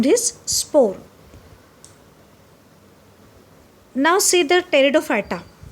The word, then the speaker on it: Pteridophyta: Now see the Pteridophyta. In Pteridophyta, P is silent there in the spelling. Pteridophyta possess true root and leaves, means they have a conducting tissues like xylems and phloem.